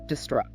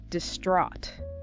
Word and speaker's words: distraught: And the final word on this list, distraught. Distraught. D-I-S-T-R-A-U-G-H-T. That O sound is big, especially in American English.